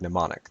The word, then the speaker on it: mnemonic: X Y & Z same Greek root as the word mnemonic the M is silent in her bag her phone